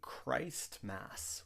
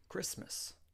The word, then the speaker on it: Christmas: We don't say Christmas, we say Christmas. The T is silent in Christmas.